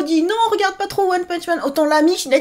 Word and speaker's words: One Punch Man: Au fait, vous savez la prononciation japonaise de One Punch Man, c'est One Pan Man.